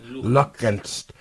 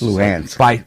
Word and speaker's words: Luhansk: Donetsk and Lugansk. Very hard words. Luhansk.